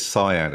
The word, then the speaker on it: Sian: So for your listeners that don't know, Cyan Blake, people keep picking me up on that it's Cyan. Yeah, she called herself Cyan. It's spelt Sian.